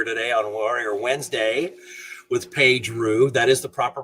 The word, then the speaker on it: Paige Roux: We're here today on Warrior Wednesday with Paige Roux. That is the proper pronunciation, yes?